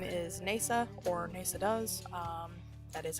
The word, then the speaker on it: Neysa: My name is Neysa, or NeysaDoes. That is how it's pronounced.